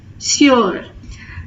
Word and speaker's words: sur: difference between these two the pronunciation for is it has the u sound Su here it has the u sound s sure next one is there